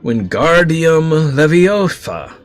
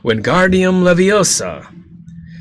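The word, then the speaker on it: Wingardium Leviosa: arms like a windmill you're saying it wrong Harry heard her miny snap it's when guardium levosa uh make the gar nice and long you do it then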